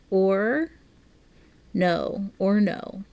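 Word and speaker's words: Orono: People pronounce it or no. Interesting. But yet it's spelled like Toronto without a T.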